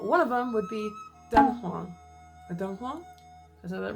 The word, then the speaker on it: Dunhuang: One of them would be Dunhuang. Dunhuang? Is that right? Dunhuang, China. How do you say it? Dunhuang, China. Dunhuang, China. Dunhuang. Okay, I got it. Dunhuang.